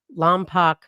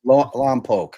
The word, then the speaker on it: Lompoc: On October 14th, 4 days after Ashley returned, Melody is reported missing by the Lampac Unified School District in Lampoke.